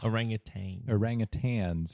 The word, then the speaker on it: orangutan: in red fur and do not have a g at the end of their names KD orangutan is correct why did you pronounce